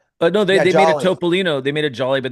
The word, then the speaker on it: Topolino: Topolino.